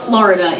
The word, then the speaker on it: Florida: Um, and she's come up probably because she can't stand the equatorial heat of Florida in the summer. And I'm sorry, no, it's it's Florida. Two syllables. Florida.